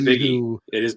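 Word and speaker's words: Bigge: Do we know the pronunciation? Biggie. Is it Biggie? Love that. Hunter Biggie. It is Biggie.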